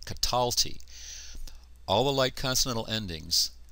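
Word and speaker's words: קָטַלְתִּי: cataly notice here that the light consonantal endings the accent recedes to the previous syllable that's why I'm pronouncing it cataly all the light consonantal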